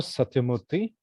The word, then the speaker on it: Satyamurthy: folks for that are not as challenged at pronouncing names your full name and uh where you're from sure hi david i'm satyamurthy satyamurthy and everyone in my family calls